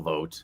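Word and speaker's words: Vought: Um, yeah, but certainly not enough people know the name Russell Vote. Uh, you know, V O U G HT, another pronunciation of O GT.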